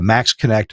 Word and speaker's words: MaxxKonnect: Check out just all the features at the Max Connect website at MAXXKONNECT, Max Connect. I know it's spelled funny, but there's a link in the show notes.